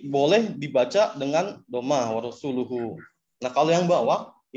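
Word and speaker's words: رسولُه: Annallaha bari'um minal musyrikina wa rasuluhu. Nah, namun orang tersebut membacanya dengan Annallaha bari'um minal musyrikina wa rasulihi. Jadi yang atas itu dhamma, wa rasuluhu, yang bawah wa rasulihi.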